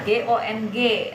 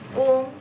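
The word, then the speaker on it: 公: Nah, GONG, tulisan pinyin GONG artinya kung, bacanya bukan gong ya, bukan ya teman-teman, tapi kung. Nah, rada sedikit mulutnya, kung ya.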